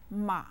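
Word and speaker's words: 吗: word in the list it's a question word ma ma is set with a neutral term listen ma ma ma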